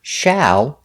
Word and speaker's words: shall: at the bowling alley the word shall has a sound like apple shall shall is the same